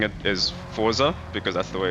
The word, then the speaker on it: Forza: sure how to pronounce I've heard that you're supposed to say Forza because it's Italian. But every now and then you might hear me say Forza because that's how I'm used to saying it because I'm South